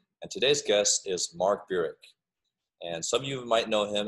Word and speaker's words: Burik: Like you said, I pronounce it Burik.